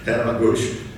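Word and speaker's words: Tatamagouche: Eight-Dot syncline and the, let me get that pronounced right, Tadamagush syncline.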